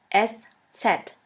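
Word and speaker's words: ß: this we call it s set s set or shafus s shafis s which means a sharp s this letter is pronounced like the double s in the word kiss and always remember this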